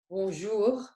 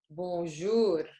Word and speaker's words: bonjour: However, we pronounce it as if it's Arabic. We don't pronounce it as if it's French, because in French it is bonjour, but in Arabic, bonjour.